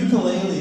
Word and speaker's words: ukulele: or uh or mukulele as it's pronounced by Hawaiians and douchebags cuz uh yeah cuz the ukulele is like an Americanized pronunciation of the name.